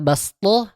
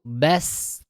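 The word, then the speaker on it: بسطة: Ingat di sana di kata bast gunakan huruf sin bukan huruf shad ya. Jadi senyum dulu bast itu praktik untuk satu kali waqaf yang satu kali nafas ya kalau ada wakaf.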